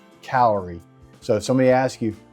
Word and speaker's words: Hcalory: So again, this is called the Hcalory. H stands for heat, and then calorie is actually a unit of heat. So it's pronounced Hcalory.